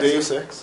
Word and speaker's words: Deus Ex: See, he mispronounced it. What is it? Deus Ex?